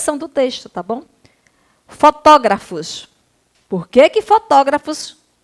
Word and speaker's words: fotógrafos: do texto tá bom fotógrafos por quê que fotógrafos é acentuada a tia porque é uma proparoxítona tá bom proparoxítona a sílaba tônica é a antepenúltima então você vai colar